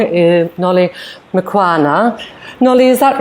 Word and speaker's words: Mqulwana: Nolly, whose last name I'm going to pronounce probably wrong, is Nolly Mqulwana. Nolly, is that right, or would you like to correct me? It's Nolly Mqulwana. Definitely a hard pronunciation for me.